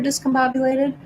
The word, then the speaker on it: discombobulated: Pronunciation for discombobulated, discombobulated, main stress on bob.